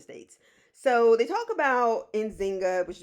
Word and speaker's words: Njinga: is the United States so they talk about in Zynga which is pronounced injinga I'll just go with engineer because somebody's gonna